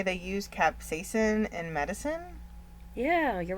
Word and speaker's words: capsaicin: that the ointment of capsaicin, well, I said it wrong. Capsaicin.